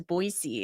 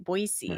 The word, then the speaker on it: Boise: be going out to Boisey, as they say. Boisey. It's not Boise. I've been been schooled on this. It's Boisey. Boisey. I have to say it right.